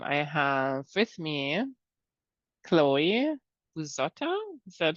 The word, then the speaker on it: Buzzotta: This time I have with me Chloe Buzzotta. Is that how I pronounce it? You're saying it pretty well, yeah, Buzzotta.